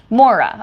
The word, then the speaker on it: Mora: Mora rhymes with Laura. Mora.